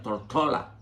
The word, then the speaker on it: Tortola: la mayoría procedían de La Isla tórtola a la que ellos en inglés pronuncian tortola tortola Pues cuando Los dominicanos